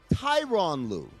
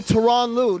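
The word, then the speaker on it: Tyronn Lue: Tyron Lou. People keep saying Terron Lou. No, it's a reason his name is Tyoo. It's Tyron Lou.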